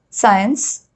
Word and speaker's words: science: C is generally not pronounced in the combination SC. So when S and C are put together in a word, we generally pronounce it as S.